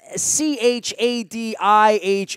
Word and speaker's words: Chadiha: That's Chadiha, and I just learned how to pronounce it, so I am embarrassed because I've